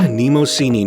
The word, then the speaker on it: Mnemosyne: Maruman Mnemosyne (pronounced here in the Greek rather than English way).